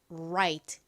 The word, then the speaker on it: right: 발음으로 들어보면 약간의 차이가 있습니다로 시작하는이 단어는 실제 발음을 들어보면가 아니라 라 right right 와 같이 소리가납니다 그리고 두 번째 단어는이